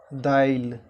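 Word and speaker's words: दालि: Okay, उसके बाद है दाली, दाली, दाली को हम क्या उच्चारण करेंगे मैथिली में, दाइल, यानी हर्ष ई का उच्चारण हम पहले करेंगे।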